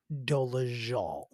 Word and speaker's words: Dolezal: We are speaking, of course, of Rachel Ann Dolezal, because that is how it's pronounced. It is Dolezal.